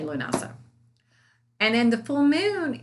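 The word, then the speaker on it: Lughnasa: spelled l-u-g-h-n-a-s-a now um some people say lunosa but that's a little complicated for me because i'm a southerner so i'm just going to say lunasa and then the full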